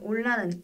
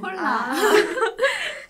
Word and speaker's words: hola: 아까 은지 학생이 말해준 올라는 H-O-L-A 이렇게 쓴답니다. 선생님 근데 질문이 있는데요. 올라에서 H로 쓰였는데 왜 홀라가 아니라 올라인가요? 홀라. 스페인어에서는 H 즉 아체라고 하는 이 발음 기호는 무음이에요.